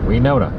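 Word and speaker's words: Wenona: This is Winona, spelled like Winona, but instead of an I, it has an E. Winona.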